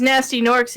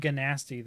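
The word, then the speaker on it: Gnasty Gnorc: are they asti orcs they're they're pronounced as nasty norks and reignited i think in the original one they said ganasti though i think they did ganasti nasty ganorx yeah anyways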